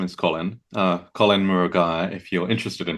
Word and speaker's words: Murugiah: So my name is Colin uh Colin Muraga if you're interested in pronouncing my surname.